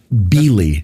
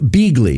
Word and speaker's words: Beeghley: be is on be I'm always beely there a hard G in there oh bigle yes so like bigly okay bigly bigly great ape remember